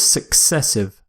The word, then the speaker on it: successive: Our next word is successive. Successive. It's similar to consecutive. Successive means something happens one after the other, usually without a gap, and the pronunciation success, as in the word success, of course.